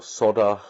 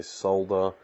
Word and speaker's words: solder: use glue is because soldering isn't really necessary or solder As Americans would say but we Australians say solda solda is actually correct so we actually say it wrong yeah I know most